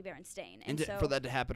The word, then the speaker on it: Berenstain: everyone's like I swear it's the Berenstein bears and but it's like no it's actually Berenstain and for that to